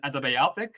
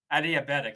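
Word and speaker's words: adiabatic: isothermal expansion then an antibiotic or antibiotic exp uh expansion and Then followed by a isothermal compression and then an anbi anotic uh compression do I pronounce oh sorry adiabetic adiabetic yes I S adiabetic uh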